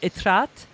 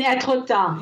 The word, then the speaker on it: Étretat: I'm going to make a mistake of my pronunciation, but I call it Étretat. But I know you just did a podcast. You mean Étretat.